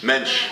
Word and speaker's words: mensch: And mensch. People people would use to say you are a mensch and I would say what what does word mensch mean? And then I get A mensch. Mensch.